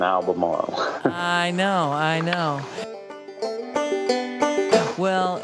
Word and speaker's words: Albemarle: I think it's Albemarle, but it often gets an R in there and people misspell it. But there's only one R in Albemarle.